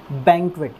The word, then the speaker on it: banquet: ठीक है, तो इसका प्रोनाउंसिएशन क्या होता है? बैंक्वेट। ये लॉन्ग एक ही साउंड है, ये अंग की साउंड है।